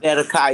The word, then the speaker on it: Zedekiah: Is that Zedekiah? Did I pronounce that right? Zedekiah? Zedekiah, yes, Zedekiah. Thank you.